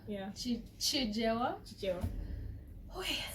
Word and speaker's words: Chichewa: In Jijewa. Yeah. Chijewa. Chichewa. Oh yeah. Spelling here. Ben almost grilled me for that. For Who? saying Jijewa instead of Chichewa.